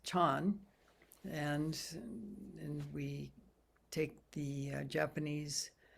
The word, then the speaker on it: Chan: And in fact, he was a monk in Korea, where Zen is pronounced Son. In China, of course, it's pronounced Chan.